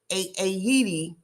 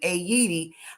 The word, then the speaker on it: Haiti: And it's actually pronounced Haiti, if I'm saying that correctly, Haiti, and not Haiti is the original pronunciation.